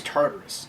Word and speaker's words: Tartarus: keypad over here tatouris i keep calling it taurus but it's temp i think it's tartarus is how it's pronounced the tartarus uh gaming